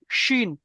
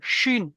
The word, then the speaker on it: শিন: আর এই কি হবে, এই যার এই 3 নক্তাটা, যার উপর 3 নক্তাটা হবে শিন, মানে গম্ভীর আওয়াজে শিন, শিন, হ্যাঁ, হ্যাঁ, শিন, হ্যাঁ, ঠিক আছে?